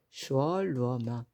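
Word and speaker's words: 所罗门: 솔로몬도 우리는 솔로 가잖아요 그런데 중국어 발음은 슈어 슈얼 루어먼 슈 루어먼 해서이 소로 시작되는 이름의 주인공들이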